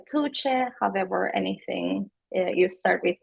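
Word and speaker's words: Tuğçe: pronounce my name and it is pronounced like tche however anything you start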